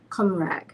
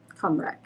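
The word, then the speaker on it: Cymraeg: called ready it's spelled c-y-m-r-a-e-g and it is pronounced comrad comrak is the pronunciation for the Welsh national language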